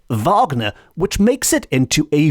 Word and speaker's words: Wagner: I certainly would pronounce Wagner the way it's supposed to be pronounced in the German which is Vagner as in Richard Vagner which makes it into